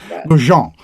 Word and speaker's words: Goodjohn: I tried to give it a French pronunciation. How'd I do? Terrible? Nailed it. Perfect. Nailed it. Okay. I don't put that much French on it. So. Okay. Goodjohn. Like Grey Poupon, right?